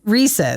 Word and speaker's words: Reese's: It's Reese's. Reese's. It's Reese's because if you look at, actually, this is helpful. It's helpful if you know about Canada because in Canada, they don't have the apostrophe S.